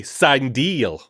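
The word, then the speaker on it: Cindel: Yeah, Am I saying that right? Sindel, yeah. Yeah. Forgive me. Everyone who watches Star Wars know that there's always a question mark around whether you're pronouncing something correctly. It's actually Sindel.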